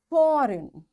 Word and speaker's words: foreign: G is silent when it comes before N. Its examples are design. Now, after G, N is there, so we don't pronounce this G. This is silent. Foreign, sign, align, resign, assign, rain, clone, and campaign. In all these words, because after G we find N is there, that's why we don't pronounce this G and we directly switch to N and we say design.